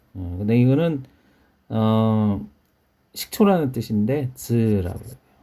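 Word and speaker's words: 酢: 그 다음에 이거는 시라코라고 읽어요. 여기서는 시라코. 그 다음에 이건 폰이죠, 폰. 근데 이거는 식초라는 뜻인데 즈라고 해요.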